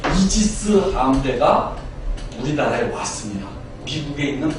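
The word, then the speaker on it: Aegis: 이 방패가 바로 아이기스라는 방패입니다. 그리고 요것의 영어의 발음은 이지스입니다. 그래서 여러분들 저번에 연평해군 저기 할 때 이지스 함대가 우리나라에 왔습니다.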